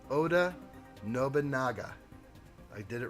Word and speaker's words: Oda Nobunaga: it up and now i'm saying it correctly oda nobunaga i did it right that time and you